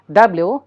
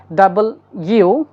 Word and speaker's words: W: ডাবল ইউ ইটস নট ডাব্লিউ আমরা অনেকেই বলে থাকি ডাব্লিউ বাট ইটস নট ডাব্লিউ it will be ডাবল ইউ এক্স ওয়াই জেড অর